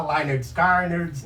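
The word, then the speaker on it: Lynyrd Skynyrd: O Ronnie Van Zant falou isso, eles não vão saber pronunciar, vão falar Leonard Skinner. Leonard Skinner. Então o primeiro disco chama Pronuncia-se Leonard Skinner.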